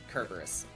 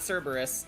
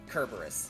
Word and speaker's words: Kerberos: and yes that's the original greek pronunciation kerberos not cerberus not cerebral boris kerberos yeah that that's logo